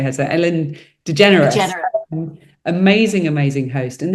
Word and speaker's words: DeGeneres: So Ellen DeGeneres.